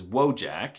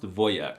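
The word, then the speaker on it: wojak: They can be manly, like the word for soldier in Polish, which is wjack. I'm not even kidding. The wjack meme and the word are Polish, but it's actually pronounced voyek, which is the most alphasavic masculine thing I've heard all month.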